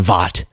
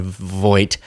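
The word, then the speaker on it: Voight: John Voit is the one I called him for years John Vot and I just want to officially issue an apology. I apologize to John Voit for mispronouncing his name.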